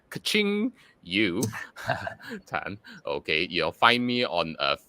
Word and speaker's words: Ching Yu Tan: me okay on Facebook my name is Ching Yu tan so that's c-h-i-n-g-y-u-t-a-n and you pronounce it as like kaching you okay your find me